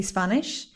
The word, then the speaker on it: Spanish: Okay, this one again is specifically Spanish. Scandal, Spanish, scared, not escandal, Spanish, scared. No, there is no E. The S goes directly into the next syllable, okay?